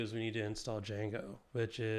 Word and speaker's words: Django: but I'll give you it rhymes with um pip install mango um have we talked